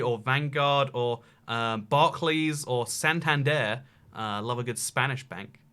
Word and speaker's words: Santander: I mean, Santander is a place in Spain, and they say Santander rather than Santander, which would be the English pronunciation.